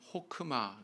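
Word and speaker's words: חכמה: 되고 있는데이 히브리어로 지혜를 호크마 그래요 호크마 흐하고 크의 중간 발음을 하시면 되는데 이렇게 이제 발음을 하는데이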